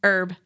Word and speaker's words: herb: Herb. Why you have to It's French, people. Why are we pronouncing the H?